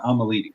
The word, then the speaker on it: Al-Malidi: How do you pronounce it properly? It's Al-Malidi.